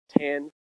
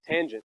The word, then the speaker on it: tangent: Tangent. All right. Well, anyway, tangent.